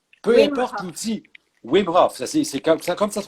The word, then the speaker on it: Wim Hof: Wim Hof, c'est comme ça se prononce.